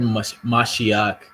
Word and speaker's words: mashiach: go all right so the word mashiach um as it's pronounced in the hebrew which is in the english messiah all right uh it